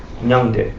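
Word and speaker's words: མྱང་འདས: It's 2 syllables. No, he was answering. Huh? I know it in Sanskrit. What's it sound like? Nyangde.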